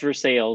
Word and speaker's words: Versailles: a small town called Versailles and yes it's pronounced Versailles even though it's spelled like your size so